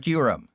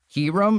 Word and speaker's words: Kyurem: Uh that's the correct pronunciation of Kyurem.